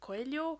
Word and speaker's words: Coelho: I'm a bit uppity about like how to pronounce it. Like, is it Coelho or Coelho? I think Like, Coelho. because Portuguese, Paulo Coelho.